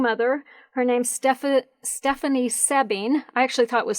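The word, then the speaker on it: Soebbing: her name's stef stephanie sebbing i actually thought it was sobing but i watched one of her video posts last night it's s-o-e-b-b-i-n-g but it's pronounced sebbing and she's a young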